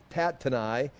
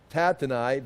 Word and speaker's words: Tattenai: Okay, at that time, Tatenai, I've got to pronounce Tatenai. I looked it up so I can pronounce it correctly. Once in a while I'll try to do that. Tatenai, the governor of the province beyond the river.